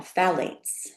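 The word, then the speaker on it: phthalates: Um so the next one are um uh phalates. Um and that's pronounced um it's ph h a l a tes but it's pronounced phalates.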